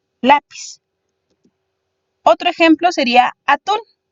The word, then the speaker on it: lápiz: Por ejemplo, tendríamos la palabra lápiz. Si la dividimos en sílabas, tenemos 2. Y debemos de encontrar también la sílaba tónica, la sílaba fuerte, la. Nos indican que la que va tildada es la vocal, lápiz.